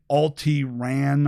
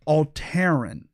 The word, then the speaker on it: Alteran: Now, I know the left might want to say Alti-Ran or, try and figure out some way to make this seem like some sort of alt-right, but it's actually pronounced Alteran.